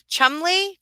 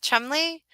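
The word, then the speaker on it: Cholmondeley: Um, so is that Chumley? Do I say that? Chumley. Will David Chumley. I think that's how you say it.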